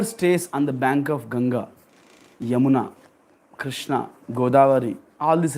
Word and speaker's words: Ganga: a shelter of mother gangas in English we call gangas but uh in Sanskrit it is pronounced as ganga ganga Maya yes so there